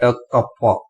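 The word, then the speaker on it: κ: And simply this pronounce that kappa.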